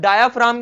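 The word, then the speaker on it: diaphragm: है क्या डायाफ्राम अब डायाफ्राम क्या होता है ये जो सा जी है इसमें क्या होता है साइलेंट होता है डायाफ्राम अब डायाफ्राम क्या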